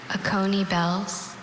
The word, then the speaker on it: Oconee bells: Oconee bells. Oconee bells. Oconee bells, can you repeat all the information? Oconee bells has no alternate pronunciation, just Oconee bells.